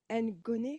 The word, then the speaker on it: Ngoné: Je voulais remarquer, Ngoné, c'est comme ça qu'on prononce.